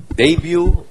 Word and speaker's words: debut: Sa vocabulary, anong letter ang hindi binibigkas sa English word na debut or debut? You. Debut. Right? Oh, Ay, sorry. It's T pala. Debut. It's T.